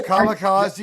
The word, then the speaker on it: kamikaze: Kamikaze is the right way to say it.